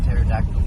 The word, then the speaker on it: pterodactyl: why can't you hear a pterodactyl going to the bathroom? Because the P is silent.